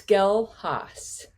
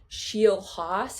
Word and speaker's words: Schelhaas: Give us give us the actual correct pronunciation. It's tough to say. It's tough to spell. It's Skelehas. Skelehas. Now, what's the best What's the best like misprononunciation you've heard? Um, shehos is the usual goto.